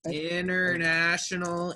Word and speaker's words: international: International internet. I know it looks funny, but try to say it like there's no T.